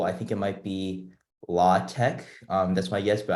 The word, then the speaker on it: LaTeX: think it might be law tech um that's my yes but i think i pronounced it latex because it's the other way you pronounce it latex and i think many people would agree but but yeah saaho